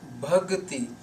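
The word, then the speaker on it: ਭਗਤਿ: So in this line the word is Bhagati.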